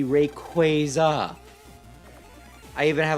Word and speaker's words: Rayquaza: People who call Rayquaza Rayquaza bug the out of me because it's very clearly, you know, Quaazar. Its name is taken from the word Quaazar. So, it should be Rayquaza.